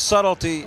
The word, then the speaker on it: subtlety: Because subtlety has a silent B in it, and we don't like the way that's spelled.